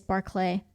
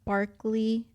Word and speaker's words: Barclay: story actually um so the pronunciation of my name is barlay but uh whenever I was coaching gymnastics when I was like 14 I had kids that would uh call me Barkley and uh they just